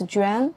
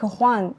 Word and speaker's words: Juan: So, in Chinese we pronounce it as Jen. Yeah. The meaning is a beautiful lady. Yeah. Oh, it's beautiful. Yeah, like for Spanish, uh, it's like Juan and it's actually a man's name.